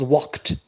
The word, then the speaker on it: walked: and the past becomes walked notice here d it is pronounced t it is spelled d but pronounced t and it is regularly